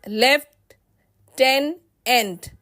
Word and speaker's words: lieutenant: Lieutenant will be pronounced as left, ten, end. Here, lie and u remain silent.